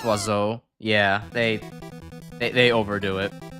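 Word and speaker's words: oiseau: Revolution Birds is spell Birds spell in French is was so yeah but it's pronounced wazo yeah they they overdo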